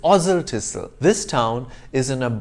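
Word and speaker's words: Oswaldtwistle: then of course there's oswald twissel except it's ozil tissue this town is in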